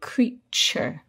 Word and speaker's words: creature: at the end but the t is not pronounced t as in to It's pronounced cha like in cheese so we say creature can you give us